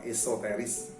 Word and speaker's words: esoteris: Setelah aspek eksoterinya, kemudian juga ada yang menyeluruh, juga berusaha mendapatkan penilaian esoterisnya atau esoteris, bukan ekso tapi eso, atau yang biasa dilafadzkan, diucapkan esoterisnya, yang kalau saya pribadi meliputi faktor emosional historis.